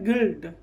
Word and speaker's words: guilt: ठीक है, आगे GUILT क्या है, गिल्ट, ये गिल्ट, यू नहीं उच्चारण होता।